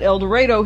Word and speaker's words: El Dorado: We pronounce it El Dorado here in Arkansas.